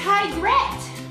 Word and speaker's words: Tigrette: It's tigrette.